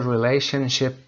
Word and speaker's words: relationship: What is the relationship between relationship؟ دقت داشته باشید به این صورت تلفظ بکنید. Relationship. شیپ هم نمیخونیم. شپ هست به عنوان اسم هست.